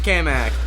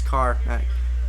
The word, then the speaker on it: Carmack: From Kamak. Hi, Primecast. Hi. Or Carmack. Carmack, I said it right. His name's, alright? It's Carmack. here with a rather weird question.